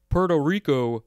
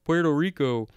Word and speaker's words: Puerto Rico: um because you know we say puerto rico puerto rico um but no it's puerto rico uh let's see do